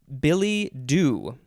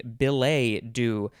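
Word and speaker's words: billet-doux: i can pronounce this billy do billy do could also be belay do it is uh two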